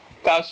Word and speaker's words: cache: And and it is it is pronounced cash.